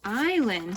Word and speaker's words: island: is land but in the word island we don't hear that s it's a little silly